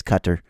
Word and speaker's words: Qatar: Are you mispronouncing it? Just like everybody. It's Cutter.